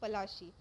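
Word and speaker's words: Plassey: प्लासी एक Anglicist pronunciation of पलाशी, एंड द प्लेस drive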